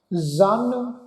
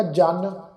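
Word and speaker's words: ਜ਼ਨ: बिरादरां कसनेस दस्तंगीर जन ये जड़ा शब्द है जज्जे दे पैर विच बिंदी लगा के साध संगत पाठ उच्चारण करना है। जन जन तो भाव हुंदा जी औरत, ठीक है ना जी। जेकर असी जज्जे पैर बिंदी नहीं लगावांगे इत्थे ते इसका पाठ हो जाएगा जन।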